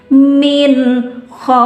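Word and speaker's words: من خوف: maka sama namanya madlin, panjang dan lembut dibaca min khauf. Ya, nggak apa-apa bibirnya moncong ke depan, emang harusnya seperti itu, nggak bisa baca min khauf bibirnya ditahan, nggak bisa.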